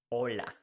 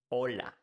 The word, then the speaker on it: hola: important to say that in Spanish we don't pronounce the h the H is mute now how do you